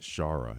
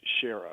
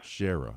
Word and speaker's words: Schara: Um the the case of Grace Shara. Am I pronouncing that name correctly? It's actually Grace Sher. Sherah.